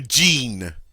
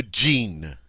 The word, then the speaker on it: jean: Le jean. Le jean. Le jean. Notice it's pronounced just like the English word.